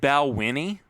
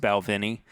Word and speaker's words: Balvenie: First of all, I said Balwinnie when we were talking about this whiskey last week. It's actually pronounced Balvenie.